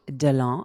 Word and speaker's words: Deland: Well, hello, Ashley Deland. I'm going to say it en français because it's supposed to be pronounced en français, although I've heard a lot of people butcher your last name.